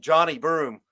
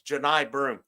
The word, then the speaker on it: Janai Broom: If I'm going to cover a team, I mean, I think I called Broom Johnny Broom in it because I don't watch out. It's Janai Broom.